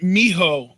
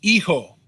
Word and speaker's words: hijo: Son isn't mijo, it's hijo. Hijo. Well, maybe is it just my pronunciation then that's wrong, and not the translation? No, there's no M in it at all.